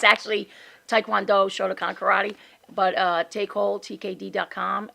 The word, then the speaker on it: Taekwondo: Taecole. Taecole. Taecole. Yeah, So that's just- Taekwondo Cole. It's not Taecole. Taekwondo. It's Taekwondo. properly pronounced Taekwondo.